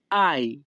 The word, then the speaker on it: hai: Italian ভাষাতে HAI এর উচ্চারণ হবে আই।